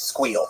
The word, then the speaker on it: SQL: Uh by the way, pronounce SQL versus SQL. It's squeal. Squeal. You squeal. Squeal. Squeal. I think it's the correct way. Squeal. I did sequel because I didn't, you know, I didn't know the audience.